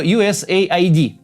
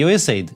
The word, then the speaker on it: USAID: бред больше всего неправда Он рассказал про usaid Кстати это именно так читается не usaid usaid это агентство по внешней